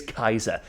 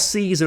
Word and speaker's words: Caesar: history teacher it's Julius Kaiser it's not Caesar as in Caesar salad it's Kaiser that's how the Romans pronounced it and that was drilled